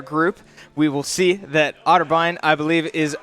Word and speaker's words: Otterbein: smash team competing tonight I believe versus otter otterbine that's how you pronounce it yes yeah the academy team has